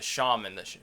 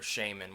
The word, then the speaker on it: shaman: You would think of the shaman, or shaman, whichever you pronounce it as. I hear both all the time.